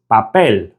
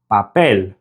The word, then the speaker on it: papel: If you put your hand to your mouth and say the English word paper, you can feel those little bursts of air. Paper, paper. Now try saying the Spanish word for paper, which is papel, papel. You should feel next to no air come out of your mouth when you say it in Spanish.